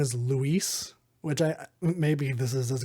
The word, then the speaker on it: Luis: for the voice acting just didn't know the difference between Lewis and Luis. But all of the, it's spelled Luis and everything, and the subtitles and all of the notes. But just everybody in the game calls him Lewis.